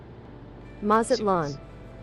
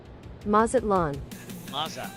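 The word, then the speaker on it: Mazatlán: So, pronunciation maz. Mazatlan. Maz. Mazatl. Mazatlan. Mazatlan.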